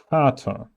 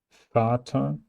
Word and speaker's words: Vater: Vater, vergessen, versprechen, versuchen, brav, aktiv. All use the F sound. Vater, vergessen, versprechen, versuchen, brav, aktiv.